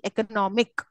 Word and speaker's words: economic: is getting an additional suffix of IC economic which is the syllable stress ultimate is it the ultimate or penultimate ultimate no economic m is the ultimate pen altimate very economic penultimate very good very very good